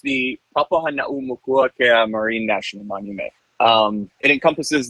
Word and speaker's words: Papahānaumokuākea: It's pronounced the Papahānaumokuākea Marine National Monument.